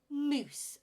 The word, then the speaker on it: mousse: in our desserts we don't want a mouse in our desserts moose mousse a chocolate mousse with